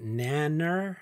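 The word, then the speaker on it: Nanna: Yeah, this moon god, Nanner, that's the pronunciation I found.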